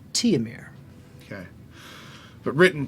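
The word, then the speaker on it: Tihomir: h o m i r h h-o-m-i-r t-i-h-o-m-i-r teomir t-homir t-ho-mir i spelled tears pronounced teomir okay but written t homer siv sieve s-i-v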